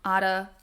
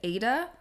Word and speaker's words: Ada: pronounce her name a I think some folks see that spelling and pronounce it Ada um but my mom's name is Ada and it's spelled this way too and it's spelled this way so I just can't fix that in my brain I'm pretty sure she would have pronounced it a though um because a I think is a very American